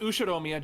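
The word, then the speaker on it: Ushiromiya: His name is Ushiomia George, pronounced Ushidomia George.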